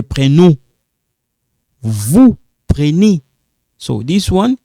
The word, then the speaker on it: prenez: Vous prenez.